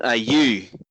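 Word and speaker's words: Ayew: better for this okay it's Jordan are you second syllable not the first one get it right if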